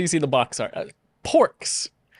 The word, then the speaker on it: Porks: Porks. It's spelled orcs with a P at the beginning.